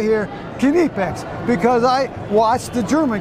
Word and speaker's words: Knipex: It depends on where you're at, but the Germans actually pronounce the name Kinepex. You might know it as Kinepex in the U.S., which is how we say it. Yeah. But most of the time, the actual pronunciation, the real pronunciation, is Kinepex.